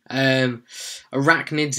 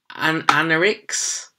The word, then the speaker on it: arachnids: I think I messed it up last week by pronouncing arachnids anarix, something like that, at the end at the end of the live stream. And then I watched it afterwards and I was like, I completely mispronounced that.